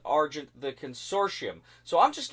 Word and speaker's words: Argent: The Consortium: some people pronounce it arjun the consortium some people pronounce it argent the consortium so i'm